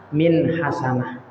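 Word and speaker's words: حسنة: Kalau kita baca berhenti di sini, bacanya apa? Min hasanah. Ya. Min hasanah. Artinya kasrotainnya ini tidak diganti, tetapi hilang justru. Tanwinnya justru hilang.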